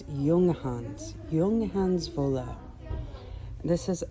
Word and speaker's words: Junghans: There's no way I can show you all the yarn in this store, but so I'm saying it wrong. It's not Jurgens. It's Yungans.